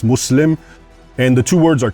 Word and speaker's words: Muslim: It's not Islam, it's Islam. And it's not Muslim, it's Muslim.